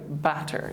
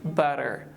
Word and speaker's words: butter: so we can say don't say like batter just say like butter butter bitty butter better